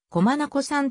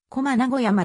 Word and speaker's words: 小真名子山: 円頂丘である政府機関文書では子まなこさんと濁らない読み方でき西されているが一般にはコマ名古山とも呼ばれるまた大まなこ